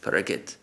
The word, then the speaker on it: Parikshit: So Parikshit is Parikit.